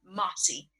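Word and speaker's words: Massey: My grandson calls from Mossy is my name. I'm Mossy. Mossy. Not like the moss that hangs out of the tree, but Mossy as in just Mossy.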